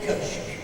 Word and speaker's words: köşk: Here we have the Sultan sitting in his kiosk. Kiosk, I say, I try to pronounce it in English. In Turkish, we call it köşk.